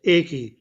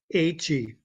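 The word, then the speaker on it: Aïché Nana: Okay, I looked up how to pronounce her name because I always pronounced it as Aiki, but it's pronounced Aichi.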